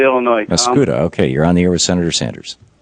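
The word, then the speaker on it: Mascoutah: Oh, no, it's Mascouda, Illinois. Mascouda.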